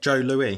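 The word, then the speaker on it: Joe Louis: two layers to it Joe Louie is it's like a um like Aon pie or pie it's pronounced Joe Lou it's pronounced Jo so the S is like silent ah the S it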